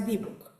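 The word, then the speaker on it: dibbuk: Sí, normalmente la se pronuncia debook. ¿Habían escuchado del dibuk?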